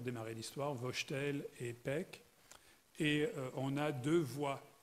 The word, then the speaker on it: Paik: nam june paik enfin les américains prenant 7 pike et je crois que les amis coréens prononcé pec pec mais même john pike